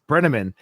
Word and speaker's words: Brenneman: Brenneman.